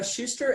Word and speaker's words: Schuster: is your last name for me ow it's Schuster SCH UST er I thought so I wanted